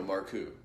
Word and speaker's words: Marcoux: It is Joe Marcoux because Joe's name is, for everyone listening, is spelled Marcaux, and That's right.